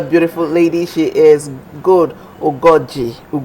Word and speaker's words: Ugoji: She is Good Ugoji. She told me how to pronounce her name. There's a particular O to the name. Gold Ugoji, yes.